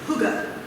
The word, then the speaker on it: hygge: I thought it was hygge. Hygge, is that how you say it? Hygge.